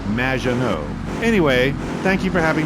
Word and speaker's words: Maginot: Magnaut. Welcome to the show. Thanks, Amy. However, you have mispronounced my name. It's Madge, which rhymes with badge, as in duh, and no as in more than you. Maginot.